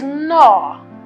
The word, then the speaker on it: gnaw: This is a verb, it is gnaw. Gnaw, the G is silent, gnaw, and it is complete.